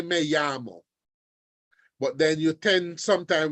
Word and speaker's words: llamo: Remember, anytime you see a double L, you are pronouncing it like a Y in English. Me llamo. All right? Sometimes now you hear them call it, they say me llamo, all right?